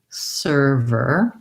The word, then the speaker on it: server: I can go from my V to my R, and then maybe erver, server. I also might want to look at similar words, like we have the word fervor, actually has the exact same and ver combination.